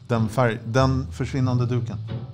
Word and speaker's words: Den försvinnande duken: Pronounce that. Den försvinnande duken.